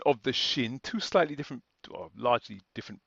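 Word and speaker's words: שׁ: sin that's this one here sin we pronounce socks whereas the sh the shin we pronounce sh as in shoot and the diacritics are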